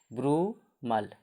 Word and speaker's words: brumal: तो BRUMAL क्या बोलेंगे, ब्रूमल, BRU मल, ब्रूमल, क्या बोलेंगे, ब्रूमल, ब्रूमल मतलब शीतकालीन, ठीक।